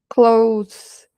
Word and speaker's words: clothes: Olha aqui a preposição at Netherfield com clothes. E aqui, olha a pronúncia dessa palavra, né? As roupas. A gente não vai falar clothes, clothes. Esse T aqui não é falado.